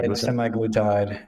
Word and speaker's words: semaglutide: I think I'm pronouncing that correctly. Yeah, Correct? semaglutide, and tirzepatide is the one that basically just